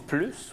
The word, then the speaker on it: plus: on est plus mobile quand on dit plus on prononce pas le s donc c'est là que